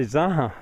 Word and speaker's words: zanja: I need to say zaha because he's a native Spanish speaker and he knows these as zahas. Uh the J is pronounced like we would pronounce an H.